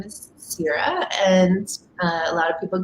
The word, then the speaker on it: Ceara: So it's Gaelic and okay, 2 syllables. So if I'm in Ireland, they say Ciara, but my parents decided on Ceara, like the Goddess of Grain series, and I was called cereal in kindergarten a lot.